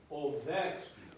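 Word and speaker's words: овечки: So, stress on the pause of the posture. Say ovechki. Ovechki. Ovechki. Okay, so pas and the vech are the most important syllables there, right? Yes. The O is the second most important. The key has to be unimportant, and then we grow and rise and fall, okay?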